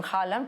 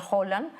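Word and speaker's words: Haaland: este jugador Holland o acá le dicen jalan pero se pronuncia Holland que es un monstruo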